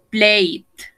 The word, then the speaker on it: played: Play, played. Enjoy, enjoyed. Stay, stayed. ¿Yes? De igual manera, no pronuncio esta E, no pronuncio esta E, no pronuncio esta E. Played, enjoyed, stayed.